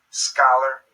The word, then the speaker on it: scholar: have an SH sound chameleon scholar chemistry psychology psychic these Greek originating words usually have a K sound when spoken in English